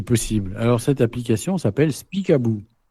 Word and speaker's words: Speak About: Alors, cette application s'appelle Speak About. Bon, Speak About. Speakabou. About. Je pense ça se prononce comme ça, speakable.